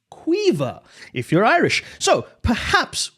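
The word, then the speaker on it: Caoimhe: I'd like you to guess how it's pronounced. C A O I M H E corn.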